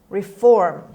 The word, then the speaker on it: reform: lesson is reform reform reform the stress is on f on the second syllable reform a after the